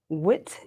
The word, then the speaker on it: Witte: I'd like to welcome Dawn Earhart Witte. Did I Yes, pronounce the last name you correctly?